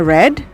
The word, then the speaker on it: read: Verb 3-nya tetap read tapi bacanya read.